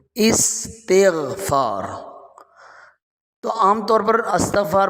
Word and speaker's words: استغفار: استغفار کر لو بھائی، تو لفظ استغفار نہیں ہوتا، لفظ استغفار ہوتا ہے۔ اب یہ استغفار اس کا اصل تلفظ ہے، الف کے نیچے زیر، سین ساکن، تا کے نیچے بھی زیر، استغفار۔ تو عام طور پر